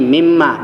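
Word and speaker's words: مِمَّا: Dengan mimma artinya min dan ma, tapi dalam bahasa Arab, kalau nun mati berjumpa dengan mim yang hidup, maka nunnya dibuang. Nunnya masuk ke dalam mimnya dibuang menjadi mimma.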